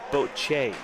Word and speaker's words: Bocce: So Maurizio told me it's pronounced Bocce. Bocce. Bocce. Bocce. I think it's pronounced however you guys want to.